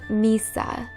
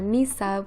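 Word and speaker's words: Mhysa: at number 18 i have the name misa spelled m-h-y-s-a and this is what the freed slave population of yunkai calls deniers when she frees them and they express their gratitude by calling her misa which means mother in their language the next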